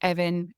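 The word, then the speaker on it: Annwn: So you've got Evan, or Aun, as it's sometimes pronounced.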